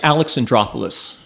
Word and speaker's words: Alexandropoulos: guidebook a fellow named how do you pronounce your last name last names Alex and drop Alice okay because I'm like once I'm beyond three